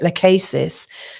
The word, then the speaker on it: Lachesis: So we've got asteroid now, Lachesis. I've also heard people pronounce it Lachesis.